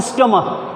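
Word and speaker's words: stomach: अगला एग्जाम्पल इसका हो सकता है स्टमक, स्पेलिंग तो CH होती है स्टमच, लेकिन हम CH को प्रोनाउंसिएट करते हैं एज अ क, तो वहाँ पर भी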